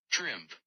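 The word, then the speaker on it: Trimpe: Okay, everybody's on the edge of their seats to figure out how to pronounce Herb's last name. Trimp.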